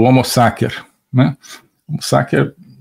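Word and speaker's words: sacer: que é o homo saker né homos saker uso aqui a pronúncia restaurada do latim né a pronúncia eh eclesiástica seria homo né mas o homo saker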